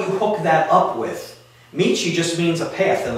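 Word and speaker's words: 道: For an example, like this character that I just drew on here, that character by itself is pronounced Michi, okay?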